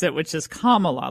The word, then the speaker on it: Kamala: Kamala then I did Cam Allah and now I'm on to the correct way to pronounce it which is Kamala like the punctuation mark Kamala okay for some